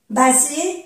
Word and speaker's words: basé: Vous en savez plus que moi sur tout ça, basé sur tout ce que nous avons appris. Aquí hacemos la unión, ¿eh? Mais aquí hay solamente una S. Y se pronuncia como una Z de francés.